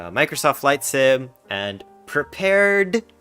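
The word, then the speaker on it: Prepar3D: microsoft flight sim and prepared it's pronounced prepared but has a little 3d um and it's owned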